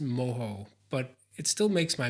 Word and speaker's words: mojo: Cuban slow cooked pork I know in that case it's pronounced moho but it still makes